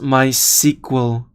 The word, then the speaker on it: MySQL: so they're portable uh my sickle and i pronounce my sequel try the incremental static revalidation awesome concept they released with next 12.